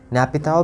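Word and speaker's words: Naypyidaw: इसकी कैपिटल है नैपिडा। क्या है? नेपिडा। नैपिताओ भी बोलते हैं, नेपिडाओ। तो नेपिडा बोलोगे। क्या बोलोगे? नेपिडा, ठीक है।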